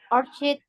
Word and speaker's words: orchid: That is orchid flower. Orchid. Orchid ya bacanya. Orchid Jadi flower. CH enggak dibaca CH, bukan orchid, tapi orchid.